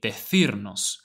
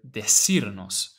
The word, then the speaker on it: decirnos: Now notice how in the trailer they say decirnos with that TH sound. Now that is the Spanish pronunciation of this word. Now in most other Spanish-speaking countries, you will hear decirnos, as if this C was an S.